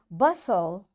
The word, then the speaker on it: bustle: Fasten, castle or castle, often, whistle, soften, hasten, bustle, and gourmet. There are different words, but in all these words, T is silent.